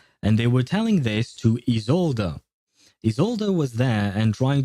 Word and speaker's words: Isolde: Although in ZZZ, I think it's supposed to be pronounced Isolde. Like there is a bit of an emphasis on the E at the end of her name.